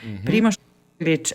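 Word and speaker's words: Primož Roglič: Then we also have Tadej Pogacar, Primož Roglic, and Luka Mezgec on Tour de France this year.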